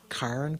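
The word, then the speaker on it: cairn: Not Karen like the girl's name. C A I R N. Karen.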